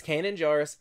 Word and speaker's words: Kanan Jarrus: a big mistake and stop pronouncing his name like you're trying to summon the tribal spirit it's kanan jarrus and caleb dume Mundi